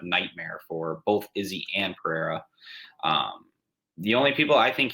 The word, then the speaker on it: Pereira: Alex Pereira.